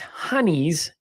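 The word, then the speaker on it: hinnies: Now it's pronounced honeys in Northeast England, but nobody cares about the Northeast Englanders. But that's where it comes from. It comes from Britain, Okay. but the Northeast Englanders pronounce it as honey.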